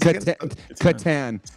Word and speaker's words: Catan: the the Qatar what Katan Katan spelled with a c strs you think you're